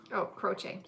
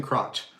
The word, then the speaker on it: Croce: I don't know how to say the last name, but a lot of people were asking for Jim Croce? Croce. See? Is it C-O-R? Yeah. It's not Jim Crotch.